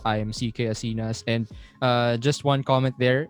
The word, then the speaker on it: Asinas: My guest, CK Asinas. Did I pronounce the last word properly?